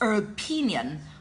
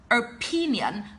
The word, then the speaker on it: opinion: Okay, and the second word is opinion. Opinion, don't pronounce the word as opinion because that is the mispronunciation. It must be opinion.